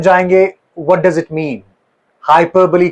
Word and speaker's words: hyperbole: एंड इट इज all about it इज हाइपरबली हाइपरबली सबसे पहली चीज हम इसको मिस प्रोनाउंस करते हैं। इट्स हाइपरबली हाइपरबली नॉट हाइपरबो हाइपरबली okay एक फिगर ऑफ़ स्पीच